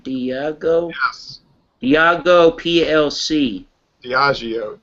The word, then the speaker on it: Diageo: Am I pronouncing that right? Diageo? Yes. Diageo PLC.